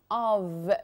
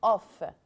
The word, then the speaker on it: of: it's in a state of the it's not off no if it's double f so it's going to be off but here it's of what do you mean